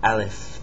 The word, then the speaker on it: ا: They call it Aleph. It is a vertical line. It's pronounced just like A, the A in English, Aleph.